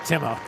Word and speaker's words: Timo: it's Timo, and he goes into the whole pronunciation of the first name. We'll just leave it at Timo.